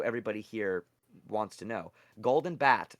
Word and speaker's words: Golden Bat: this with Amalia yesterday Golden Bot just so everybody here wants to know Golden Bat I guess his name is Bat but sometimes pronounced bot golden bat is an